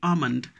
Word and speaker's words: almond: this second word e l m n d almond so almond almond is tree nut a dried